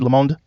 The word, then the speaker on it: Le Monde: The Atlantic, The Texas Tribune, Gannett, Washington Monthly, Le Monde, is that how you say it? Yeah, Le Monde.